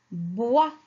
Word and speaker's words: bois: après le mot suivant on le lit ensemble bois la lettre s en la prononce pas elle est muette alors voir où